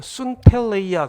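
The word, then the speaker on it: συντέλεια: 세상 끝에 할 때 이 끝은 우리말로 발음으로 하면 순텔레이아 그렇게 읽습니다. 주님이 제자들이 물었어요. 순텔레이아에 무슨 징조가 있겠습니까?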